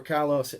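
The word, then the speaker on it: Kyllo: To they can in Kilo or Kylo, I heard it pronounced both ways, right?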